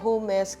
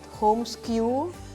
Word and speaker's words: Homesque: we have a group chat called hesk so hesk is like home and ESO our surname put together right so and then so a lot of people actually mispronounce some call it home SK some call it home ski so it's it's